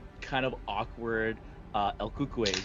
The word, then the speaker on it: El Cucuy: This like shy, like kind of awkward El Cucuy, am I saying it right? Kukui. Coco also works too.